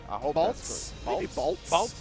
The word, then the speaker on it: Balltze: be somar 52 versus baltzi bolts with just the E is silent yeah you know see